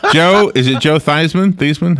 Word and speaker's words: Theismann: Theismann? How do you say his name? Joe. Yeah, Theismann. Theismann.